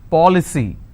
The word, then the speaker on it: policy: with cy for example policy how many syllables three paw li c now here the rule says i need to stress on the third from right which means i will stress on paul i just bought an